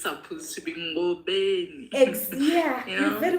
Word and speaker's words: Ngobeni: I like how you even pronounce my surname like the way it's supposed to be Ngobeni.